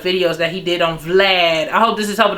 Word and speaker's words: Vlad: name wrong some people somebody went under my post and said oh you pronounce his name wrong it's vlad okay so dj vlad